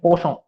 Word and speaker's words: Poisson: You pronounce it as Poisson.